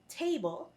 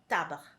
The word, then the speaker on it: table: However, there's a slight difference when it comes to the pronunciation. Instead of saying table, table, we say une table, une table.